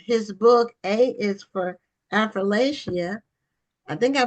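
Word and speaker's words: Affrilachia: Affrilacia. Okay, Appalachia. It's like I'll throw an apple at you. So Affrilacia. it's almost like I it's four like that. syllables. Appalachia. It's four syllables.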